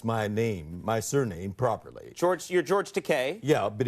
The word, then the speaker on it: Takei: Yeah, but he kept pronouncing it Takei. Right. And I kept correcting him. I couldn't get it into his noggins. Right. So I thought I'd give him a way to rhyme that would stick with his head. Easy for him to remember, yeah. I told him, Bill, it's Takei, just like your toupee. Rhymes with toupee.